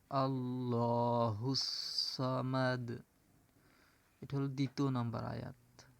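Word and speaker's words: اللَّهُ الصَّمَدُ: আল্লাহুস সামাদ এভাবে উচ্চারণ করতে হবে। আল্লাহুস সামাদ।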